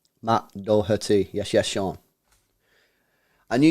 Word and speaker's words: Doherty: please confirm how you say his name Matt Doherty yes yes Sean I knew you'd come through